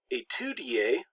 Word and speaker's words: étudier: Now sometimes words that start with ES, the ES is replaced by the E with the accent aigu, which is pronounced A. And so in the word étudier, we have that E